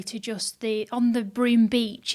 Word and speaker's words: Broome: and that was what broome how do you spell that b-r-o-o-m-e yeah broom so it's like a broom a broom with any on the end yeah on the end